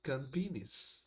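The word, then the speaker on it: Campinas: Paulo that's called this, which mean like grass fields, but it's pronounced campinis. Campinus.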